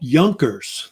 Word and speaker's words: Junker: And most of the officers that were in the Prussian military were called Junkers. That's how they pronounce it, which are these German noblemen.